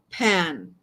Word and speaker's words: pain: So is there's this, okay, bread in French is spelled pain, Pain, but it's like pan, right?